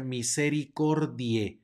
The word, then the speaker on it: misericordia: sino Regina más adelante tenemos un diptongo ae que suena como e por lo tanto se pronuncia misericordia no misericordia e sino misericordia luego tenemos una c seguida